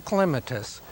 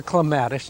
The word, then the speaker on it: clematis: Any of the clematis or clematis, and you may pronounce it either way, that flower before June, you don't prune until after they finish flowering.